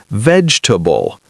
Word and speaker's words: vegetable: Many learners pronounce every syllable clearly, but native speakers often say vegetable, making the word shorter and smoother in natural speech.